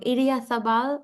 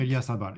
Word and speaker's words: Idiazabal: be pronouncing it wrong. Idiazabal, like Idiazabal, yes.